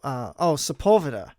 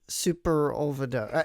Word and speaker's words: Sepulveda: I didn't know how to say that. I thought it was Superovida. I don't know. I was dumb. I couldn't figure out how to say it. And then somebody said Sepulveda. I'm like, oh, that's how you say it.